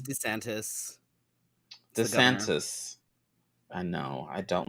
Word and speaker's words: DeSantis: It's DeSantis.